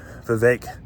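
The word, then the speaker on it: Vivek Ramaswamy: man and um uh Vivek Vivek Rama Swami I got to say his name like cake some people say fake fake ramoswame um is impressing me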